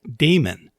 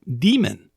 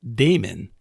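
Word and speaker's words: daemon: program processing Damon that very last word I pronounced Damon some people pronounce it demon both ways are considered correct but I choose to pronounce it Damon because I don't like the idea of having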